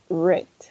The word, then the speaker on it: read: to this verb because in the past we're going to say red i mean like in the present we say read all right yesterday i